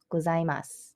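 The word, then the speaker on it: ございます: end of a sentence when it's at the end of the sentence you don't fully pronounced sue it's mus like it's like an S sound um I'm not sure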